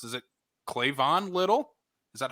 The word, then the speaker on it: Cleavon: not heard his first name pronounced is it clayvon little is that how you pronounce this first cleavon yeah um he is the funniest person in